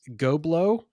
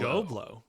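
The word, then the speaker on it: Ghoblo: going to name this goblo and that is spelled g h o b o sorry can you repeat that g h o as in ghost BL goblo goblo oh interesting very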